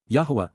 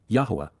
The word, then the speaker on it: Yahowah: time from 11 QPS yahwah yahwah the proper pronunciation of the name OFA God has directed